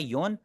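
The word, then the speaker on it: 四: 4 को बोलने के तरीके 2 होते हैं, एक होता है योन और एक होता है शी, ठीक है।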